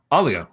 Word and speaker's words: Oligo: Oligo. Oligo. Awesome. Cool. So like Ollie.